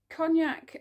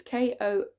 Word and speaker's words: Konjac: These cognac, that is not how you pronounce it. It's Konjac noodles.